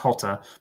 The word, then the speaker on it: Jota: It's Jota. Jota, yeah. It's actually pronounced Jota, but anyway.